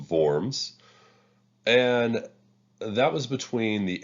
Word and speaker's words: Worms: of forms it looks like worms but it's pronounced forms and that was between the Emperor and the